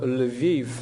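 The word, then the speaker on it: Lviv: part of Ukraine and it's called l'viv in Ukrainian lavalla is actually this kind of Russian English pronunciation and Poland is called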